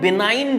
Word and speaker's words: benign: एक ट्यूमर को हम लोग बोलते हैं बेनाइन ट्यूमर, BENIGN, स्पेलिंग में गौर फरमाइएगा, BENIGN, बेनाइन ट्यूमर।